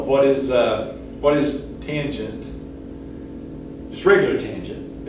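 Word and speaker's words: tanh: cosh hyperbolic cosine and fyi that's usually pronounced tange again i don't know why they added extra c or some extra stuff in there but i guess just to delineate it from regular tangent um but in pinch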